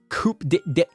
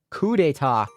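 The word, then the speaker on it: coup d'état: held captive somewhere yes this coupe did coupe des des coupe d'etat coup d'etat coup d'etat coup d'etat thank you google me dum-dum can't pronounce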